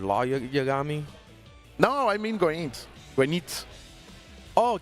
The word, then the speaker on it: Goenitz: When it's, how do you pronounce his name? Everyone does it different. I heard Law Yagami. No, I mean Goenitz. Goenitz. Oh, Ginitz.